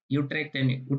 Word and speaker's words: Utrecht: Utrecht University, because U is pronounced as U in Dutch. So Utrecht University Excellence Scholarship, around 11,000 euro.